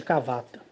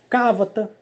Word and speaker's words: Kavata: As pessoas às vezes falam até assim, até é importante dizer isso, que as pessoas podem dizer assim, Cavata, Cavata, Cavata, Cavata. E querer colocar acento. E nenhum nome extraterrestrial leva acento.